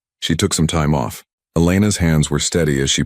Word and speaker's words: Elena: "My name is Elena. I'll be taking care of you this evening." "Elena," he tested the name, noting the slight emphasis she placed on the second syllable.